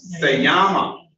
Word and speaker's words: se llama: I know it is, the double L is a Y, thank you, Leah. She says, se llama. Se llama. That's the correct pronunciation.